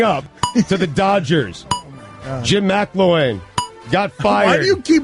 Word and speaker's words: McElwain: McElwain. The E's before the L. You keep putting the L before the E.